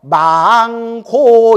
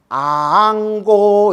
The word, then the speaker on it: 앙고: 근데 스님들 축원할 때면 꼭 망고 이러는데 그 망고의 망이 죽은 사람 축원하는 거 아닙니까? 이래서 내가 그냥 미치고 발작 뛰겠다. 내가 망고가 아니라 뭐예요? 그렇죠. 앙이에요. 앙고 이러는 거예요. 우러를 앙자.